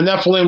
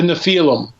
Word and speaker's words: Nephilim: And it says, and the Nephilim were on the earth in those days and also afterwards, when the sons of God took wives and had children by them.